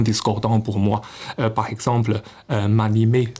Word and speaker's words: m'animer: Par exemple, m'animer se prononce comme mani, mais ce qui me faisait penser à mai 68.